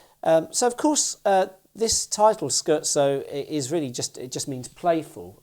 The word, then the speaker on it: Scherzo: For years I used to call it Scherzo, but it's Scherzo is, I believe, the proper pronunciation, or somewhere in that ballpark, by the wonderful composer Beethoven.